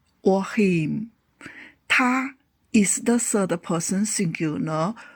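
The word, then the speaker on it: 他: Both male ta and the female ta can be used as the subjects as well as objects in the sentence.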